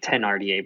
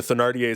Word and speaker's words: Thénardier: I've always pronounced it with the H silent, like Thénardier, but I've heard it both.